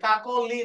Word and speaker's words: কাকলি: তাহলে যদি প্রথমে মানে মাঝখানে অধ্বনি থাকে এবং শেষে হ্রস্বইকার থাকে, তাহলে এই অটা ও এর মতো উচ্চারিত হবে, এবং সেক্ষেত্রে এর উচ্চারণ হয়ে যাবে কাকলি, কাকলি। তাহলে কাকলি না কাকলি আর নেই, হয়ে গেছে কাকলি।